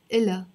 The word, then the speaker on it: إلها: إلا, again we're not pronouncing the H here, the ha. إلا, it's not إلها, it's إلا.